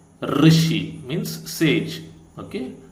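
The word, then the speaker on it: ऋषि: study about this okay now this is pronounced like R so this is r r r r sound okay it is r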